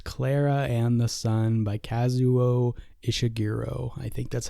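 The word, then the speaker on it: Kazuo Ishiguro: this year was Clara and the Sun by kazuo ishiro I think that's how you say his name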